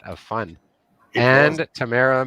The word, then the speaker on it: Tamara: Tamara Mosher-Kutzer, fresh off of speaking at CBA, our express entry expert, and from the nation's capital. I feel like we Another still Twitter butcher extraordinary. Tamara's name.